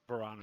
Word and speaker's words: Barrana: pronouncing it correctly barana barana is correct okay because I always think of piranha um but then I